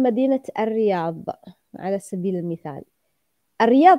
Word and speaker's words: الرياض: يعني مثلا اسم مدينة الرياض على سبيل المثال، الرياض تكتب بالضاد وليس الضاء، لكن لا تجد أحد أبدا ينطقها بالضاد، لا تقال الرياض، يقال الرياض، وإذا قلتها أو نطقتها بشكل صحيح سيتم الضحك عليك. رياض، كيف يعني رياض صحيحة كده؟ رياض. هي الرياض صحيحة، لكن نحن لا نقول الرياض، نحن نقول الرياض.